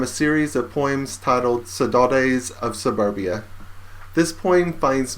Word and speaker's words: saudade: their mood from the Brazilian word saudade, pronounced more like saudade in Portuguese.